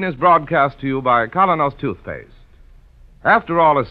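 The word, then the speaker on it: Kolynos: minute Mr Keane is broadcast to you by colonos toothpaste after all is said and done all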